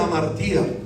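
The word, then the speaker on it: ἁμαρτία: El pecado, que significa en el idioma de la Biblia, que dicen que está en griego, se pronuncia amartía.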